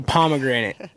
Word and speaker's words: Pomagranite: us all right so pomegranate and I always say like this we spell it wrong on purpose we're not illiterate pomegranate